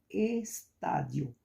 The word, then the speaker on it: estádio: Como exemplos temos estádio, estádio. Então, a antepenúltima tá, é a mais forte.